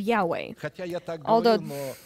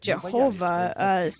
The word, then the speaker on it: Yahweh: and so they Hova this is the incorrect pronunciation of Yahweh it's hard for us to be convinced of course that we sing instead of Jehovah saying Yahweh God wants